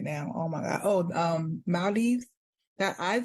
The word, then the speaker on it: Maldives: Oh, Maldives. That I said Oh, girl, Maldives, yes. but they was like, that's not how you say it. It's Maldives or something like that. Yes, I want to go to the Maldives.